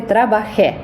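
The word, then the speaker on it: trabajé: жаль не допоможе і хочу вашу увагу звернути також на графічний наголос на льдес він не просто так там Там стоїть це дуже часто помилка у наших співвітчизників вони просто ігнорують оцей графічний наголос а його не можна ігнорувати ніколи бо він нам підказує що ця голосна наголошена тоб треба сказати трабахе і це важливо оскільки є форма трабахе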